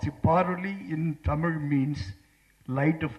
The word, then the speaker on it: Paroli: What struck me most is his beautiful name, because it's Paroli.